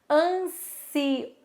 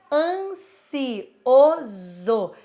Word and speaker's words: ansioso: pronúncia a gente tem ansioso certo esse oso a gente faz com som de z porque tá entre duas vogais se você for ver